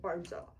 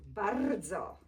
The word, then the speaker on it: bardzo: And if you want to sound very Polish, because he has a cute American accent when he say bardzo. Say bardzo. Bardzo. Bardzo. I can't roll ours.